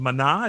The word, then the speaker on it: Maná: He also produced and did a ton of records for a band called Maná. Is that how you pronounce it? Maná?